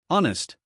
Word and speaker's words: honest: The H is silent. We say honest.